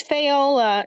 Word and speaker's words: Fayola: Oh, it's Fayola. It rhymes with Crayola, except there's no R in it.